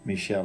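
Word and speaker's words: Míchel: probably means how how good of a manager Michelle is is that the way to pronounce it yeah um and and even this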